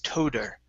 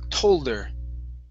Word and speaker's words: told: That's what you want to do, but you need to pronounce that L. If not, it's toder. So okay. it's told her.